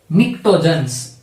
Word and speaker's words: pnictogens: નાઇટ્રોજન family, that means group 15 is also known as Pnictogens. P is silent over here.